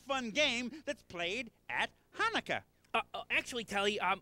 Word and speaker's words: Hanukkah: They're teaching me a really fun game that's played at Hanukkah. Actually, Telly, it's pronounced Hanukkah, you know, with more of a ha.